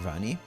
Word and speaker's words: Rani: Rani. So, you're taking her acronym and signing it out phonetically is a word for her name.